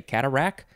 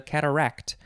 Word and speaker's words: cataract: on to cataract uh i think a lot of people just say cataract with no t at the end but it's a cataract this is a noun